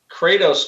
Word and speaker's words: Kratos: I I think uh Kratos just rhymes with crater that's what looks like